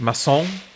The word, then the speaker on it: Macon: Is that Macon, Georgia? Or is it Masson? I'm pronouncing it like bacon.